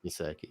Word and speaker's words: Gesicki: I'm gonna say Tonyan or Gesicki. I'm gonna say Goddard. It's pronounced Gesicki.